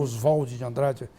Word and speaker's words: Oswald de Andrade: Diria Oswald de Andrade, ou Oswald de Andrade, eles preferem essa pronúncia.